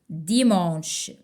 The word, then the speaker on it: dimanche: Dimanche. Même si on a IM, mais ça ne prononce pas le son 1 ici.